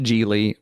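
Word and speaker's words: Gigli: trickery Gods and Generals it is pronounced gie rhyming with really I did not know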